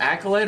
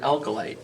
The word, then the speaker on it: acolyte: Is it an acolyte or an alkalite? Which one was it, John? Acolyte. Okay. Did I mispronounce? Yeah. Just want to catch him on that. I put the emphasis on the wrong syllable.